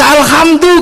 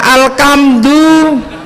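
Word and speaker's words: الحمد: Orang Jawa enggak bisa alhamdu karena punyanya honor ko maka bacanya alkamdu.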